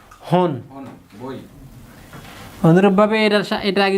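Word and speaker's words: 本: তাহলে কিউ হন, উচ্চারণ একটাই, হন। শুধু হন মানে বই, শুধু হন মানে কি, আবার যখন সংখ্যার সাথে হন থাকবে তখন হচ্ছে পিস, কিউ হন মানে 9টি, 9 পিস। আর যখন নিয়ের সাথে থাকবে নি হন, তার মানে জাপান। তাহলে এটার উচ্চারণ সবসময় হনই হবে।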